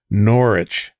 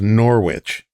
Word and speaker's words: Norwich: So, if you don't want people calling it Norwich, take the W out of the word.